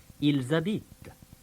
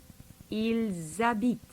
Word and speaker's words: ils habitent: In that case, the S of the il, I-L-S, gets carried over and pronounced. Il habite, He lives, ils habitent. they live. Il habite, ils habitent.